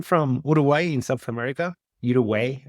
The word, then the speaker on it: Uruguay: Uruguay, I think it's the way you pronounce it in English.